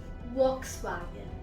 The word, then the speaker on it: Volkswagen: Volkswagen. Volkswagen. And in Germany, it's pronounced as Volkswagen.